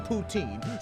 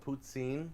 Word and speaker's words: poutine: heard a different pronunciation I've never heard anybody say it any other way than poutine so this right here doesn't this next bit the French call it putsin puts scene put scene